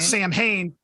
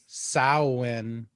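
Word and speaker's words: Samhain: and then you got Sam Hayne pronounced how is it pronounced then Sam Hayne I think it's sauwin what yeah I think that's it so did Danzig lose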